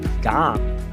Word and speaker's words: gum: Então, para falar sonhar, o brasileiro quer falar dream, tá errada essa pronúncia. Você tem que tocar os lábios porque o fonema é bilabial. Então, a pronúncia correta de sonhar é dream. De chiclete, gum. fecha o M.